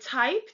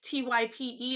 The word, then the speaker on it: Typ: So for instance, the word type, Type in English, the German word for that is Typ, but it's pronounced typ, not type.